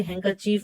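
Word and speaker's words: handkerchief: डी इसमें silent होता है इसलिए हैंकरचीफ बोला जाता है इसे।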